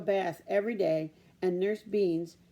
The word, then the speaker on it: Benes: She also took a bath every day, and Nurse Beans, that's spelled B-E-N-E-S, so it might be Benes, arranged for her to have the little hair she had left styled.